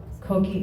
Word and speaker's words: Coquille: Coquille is the nickname for our French settlement. It's spelled coquille, but it's pronounced coquille because the double L in French is E.